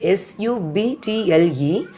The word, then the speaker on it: subtle: Next one is subtle. That is the spelling. The spelling is S-U-B-T-L-E, but we are pronouncing as a subtle.